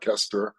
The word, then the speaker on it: Koesterer: four times a day people don't pronounce it right it's ker thank you no problem